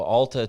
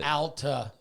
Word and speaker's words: Alta: So Alta to Spencer to Alta. Can I say? I always call it It's Alta. Alta. Alta? Yes. Alta? Al. Alta? Like Al, A-L.